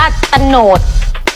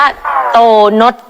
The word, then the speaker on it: โตนด: ได้ ยัง ไง นะ มัน ไม่ ได้ อ่าน แบบ นั้น เธอ อ่าน ผิด เ ไม่ ได้ อ่าน ว่า ตโนด อ้าว เรา อ่าน ว่า อะไร ครับ เ้า อ่าน ว่า โตนด พู กับ เพลอ มาก